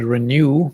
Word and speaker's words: Renew: So we just pronounce it Renew, like it rhymes with you renew your kidneys, if you will.